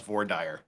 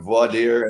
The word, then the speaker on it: voir dire: Well, I'm just glad to finally have someone on the show that knows how to properly pronounce Vordire.